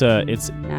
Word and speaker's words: Natsuki: I think it's Nasuski. Not because it's Natsuki. N-A, na, and then the T-S-U is pronounced su, like tsunami.